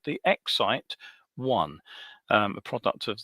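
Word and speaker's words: XYT: I had to work out how to pronounce that, of course, because it's actually spelled um XY T, but obviously Exite is how it's supposed to be pronounced.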